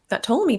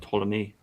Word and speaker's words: Ptolemy: Oh, the P is silent. Yeah, I don't even. I don't really know much about Ptolemy.